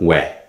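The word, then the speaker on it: 워: o and E and it's pronounced where this where is written like this where now this vow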